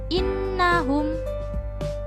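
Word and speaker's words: إِنَّهُمْ: Yang pertama, innahum. Pada pada bacaan ini terdapat huruf nun yang bertasydid. Maka disebut bacaan ghunnah karena terdapat huruf nun bertasydid. Dan cara membacanya yaitu berdengung dua ketukan atau satu alif.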